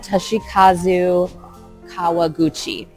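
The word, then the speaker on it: Toshikazu Kawaguchi: Um the author and please forgive me if I'm mispronouncing this. Toshi Kazu. Toshi Kazu Kawaguchi.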